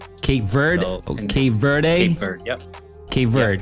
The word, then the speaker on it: Cape Verde: it no i mean it's pronounced different i pronounce it in the united states you kind of pronounce it cape verde cape verde okay verde yep okay